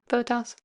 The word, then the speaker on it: Bottas: Bottas.